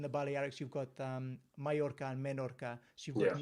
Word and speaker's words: Majorca: got a like a y sound yeah um and the j is i don't know why england put a j in there i don't know what